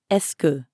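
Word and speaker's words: est-ce que: up of three words since esoku is such a common phrase it's usually pronounced escu when it's said quickly notice the difference let's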